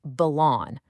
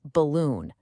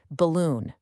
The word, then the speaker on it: balloon: making it sound like balloon. Again, the air is balon, but the stress should be on the second syllable with a long ooh sound. The correct pronunciation is balloon.